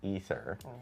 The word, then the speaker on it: Aether: And then we learned that Canon and Diablo I despite it being spelled AE T H E R, it's actually pronounced ether.